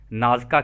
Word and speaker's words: Nazca: तो आगे डॉन कहते हैं, क्या इसमें नाजका की पंक्तियां भी शामिल हैं? तो दोस्तों इंग्लिश में इनको नाजका लाइंस बोलते हैं।